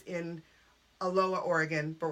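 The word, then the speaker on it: Aloha: so I went to a low high school which is it's funny because it's in a lower Oregon but we're not Hawaii not pronounced a little hard yeah it's a low uh so you know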